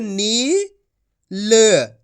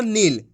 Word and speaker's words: नील: का उच्चारण हो जाएगा इस तरीके से इसको कैसे पढ़े नील यहां पर छोटी ई की मात्रा है यहां बड़ी ई की मात्रा है तो खींच के पढ़ेंगे नील एक बार फिर से